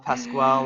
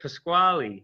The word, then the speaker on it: Pasquale: Thanks for the love, Pasquale. That's fantastic. That's not how you say it. Pasquale.